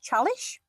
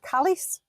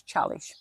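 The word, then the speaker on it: Çalış: An S with one of those is pronounced sh. So for instance, uh we went to a place called chalish and we constantly calling it callis.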